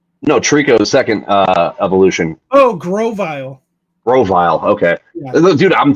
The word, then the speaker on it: Grovyle: What's it, Grovol? How do you even pronounce that? Grovol? Grovol? I don't know what Pokemon you're trying to say. Oh, from this generation, Quaquaval. No, Trico's second evolution. Oh, Grovyle.